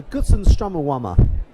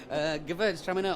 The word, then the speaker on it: Gewürztraminer: So we've tried a few whites, and now we're on to our third one, I believe, a Gewürztraminer. Perfect pronunciation as always, John. Gewürztraminer or Gewürztraminer, people call it.